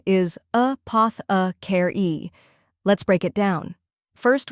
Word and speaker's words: apothecary: The correct pronunciation is apothecary. Let's break it down. First, we have a short and relaxed sound, like the A in sofa. Next is poth, which rhymes with moth.